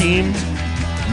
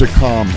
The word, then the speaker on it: Akam: May 20th, Road Dogg, Danielle Camella, and Akam, A-K-A-M? Yes. Is that how it's pronounced? WWE wrestler. All right, Akam. Don't remember it. Okay, May Is it 20th. Akeem? No, So- it's a com, A-K-A-M.